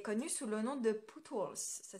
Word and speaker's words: Pootles: Elle est connue sous le nom de Pootles. Ça s'écrit P-O-O-T-L-E-S.